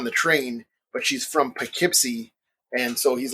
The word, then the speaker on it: Poughkeepsie: Kravitz, keeps trying to say Poughkeepsie, and she pronounces it Poughkeepsie.